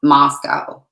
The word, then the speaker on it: Moscow: It's Moscow, not Moscow.